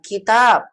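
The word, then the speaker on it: كتاب: Beda dengan kitab, kalau itu panjang alifnya.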